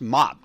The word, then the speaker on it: MOPP: mission oriented protective posture hope pronounced mop just like you grab that damn mop and you go [